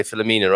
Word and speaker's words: Filomena: okay and i'm realizing i'm even pronouncing your name wrong you just said filament didn't you know yeah i mean english people american people are likely to say philomena aren't they because yes